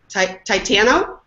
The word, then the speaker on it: Titano: And then we have Aisha, who was very nice to let me know her last name rhymes with piano, so I'll make sure I say it correctly. Titano.